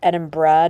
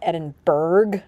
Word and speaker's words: Edinburgh: We arrived pretty late to the Edinburgh airport, and it's pronounced Edinburgh, not Edinburgh, like I thought my entire life.